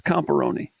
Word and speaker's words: Comparoni: what's the proper pronunciation it Rhymes it rhymes with macaroni it's comparoni pepperoni yeah Jim copperone we